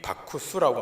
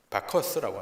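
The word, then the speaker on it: Bacchus: 그 별명이 바쿠스라고 하는 것인데, 이 바쿠스라고 할 때 이 바쿠스는 로마의 발음으로 바쿠스라고 불리는데 그 뜻은 술의 신입니다. 영어로는 뭔지 아십니까? 영어로는 바커스라고 하는 것입니다.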